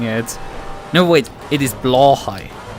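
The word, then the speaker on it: Blåhaj: because that is effectively very similar to the German way of saying blue high a blue shark which would be blue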